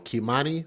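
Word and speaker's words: Kei'mani: Make sure we pronounce her name correctly and spell it correctly. K E I K M A N I. Kimmani Latig. L A T I gu.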